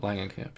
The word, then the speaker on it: Langenkamp: Is it Langenkamp? Langenkamp, yeah.